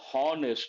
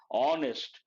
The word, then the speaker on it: honest: lot of people pronounce honest no h silent honest because H is silent we cannot say he